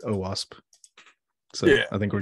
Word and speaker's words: OWASP: Yeah, I just talked for OWASP last night, and they pronounced it OWASP.